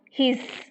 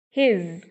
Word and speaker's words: his: Like if we pronounce his, no, this is wrong, this is not a correct pronunciation, right? So we should pronounce correctly his, and here the actual sound is z, z, not s.